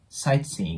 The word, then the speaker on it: sightseeing: の部分ですねこれまず 1 つ目の注意点が SITE の T の部分ですねここの部分ほとんど聞こえなくなるようなイメージでオッケーですなので SING S seing ような感じですねカカに聞こえるぐらいでいいかなと思いますそして S seing の